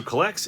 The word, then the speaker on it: CollX: So Collects is a card app. It's spelled COLLX.